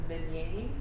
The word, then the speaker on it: Vannier: some reason, I don't know why I thought the proper way to say your name was Vannier. It actually is. It is French. Okay. No, that is actually the way you're supposed to pronounce it, but it got Americanized when it came over this way.